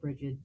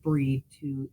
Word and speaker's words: Brigid: Um, so a lot of people see her name Brigid and pronounce it Bridget. That's not technically incorrect in English, but it is pronounced breed to most of us.